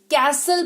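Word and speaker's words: castle: पढ़ेंगे इसको विशाल पढ़ेंगे फिर कस्तले कैसल पढ़ेंगे कैसल नहीं पढ़ेंगे कैसल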